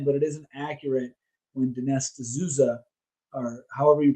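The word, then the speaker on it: Dinesh D'Souza: watch it um because i do think that dennis azuza that's how you pronounce his name he he does some good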